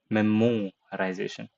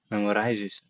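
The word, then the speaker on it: memoization: memorization can help speed things up it is pronounced memorization and not memorization memorization memorization memorization memorization not memorization you it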